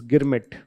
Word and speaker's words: Girmit: So they ended up pronouncing this word as girmit. In Bhojpuri, in Awadhi, they would say it Girmit.